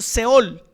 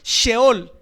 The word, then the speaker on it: Sheol: la palabra que nosotros leemos en español, Seol, que en hebreo se escribe más o menos sheol.